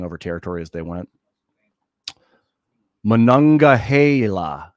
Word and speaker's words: Monongahela: Monongahela, that's how you say it.